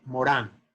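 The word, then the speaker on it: Morin: se llama de morir se pronuncia en francés édgar morán pero morín se escribe y es como uno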